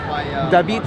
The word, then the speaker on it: David: David is how it's pronounced with the Russian accent. David Lied Bochadze.